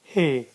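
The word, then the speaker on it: ح: And then we have got a letter he.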